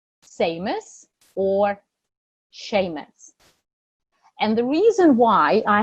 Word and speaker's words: Seamus: did I precursor and I have found out that it is actually not see a mouse or anything like that so Seamus Seamus then what else do